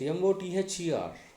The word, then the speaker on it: mother: The next, MOTHER. Mo. The. Two syllables are there ending in R. R is silent. So that's why stress should be on the first syllable.